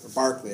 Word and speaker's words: Berkeley: a Berkeley and idealist so Berkeley Berkeley actually was supposed to be pronounced was a British philosopher